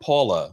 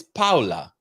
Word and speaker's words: Paola: out about kathy hilton's it's not paula right it's paola right i think she just just knows doesn't know how to uh pronounce it because they they spell it p-a-o-l-a am i incorrect or